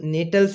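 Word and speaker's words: Gnetales: So friends जो जो नेटल्स होता है इसमें जी साइलेंट है बेटा.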